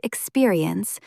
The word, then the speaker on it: experience: The word experience is often rushed by nervous speakers. Slow it down slightly. Experience. Four clear syllables, rather than mumbling it into two.